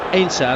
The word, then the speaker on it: Heinze: Obviously of German extraction, Heinze would be his name, but in Argentina they call him Ainsa and they don't really pronounce the H.